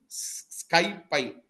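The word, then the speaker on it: SciPy: C cbon skyie it is called it is pronounced as a skypie but the spelling is this okay okay ID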